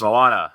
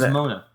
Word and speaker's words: Moana: a different different ethnicity and I think it's Moana is that how it's pronounced yes Moana yeah yes that is correct I heard Mona that sounds weird to there's an a right